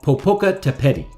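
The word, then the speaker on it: Popocatépetl: this volcano bear with me here on the pronunciation this volcano is called popoca tepeti it actually straddles three different states in central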